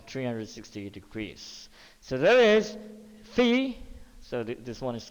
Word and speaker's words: phi: a greek letter so this is called fee okay or similar to the pronunciation of physics of phi okay but the spelling is phi okay and theta are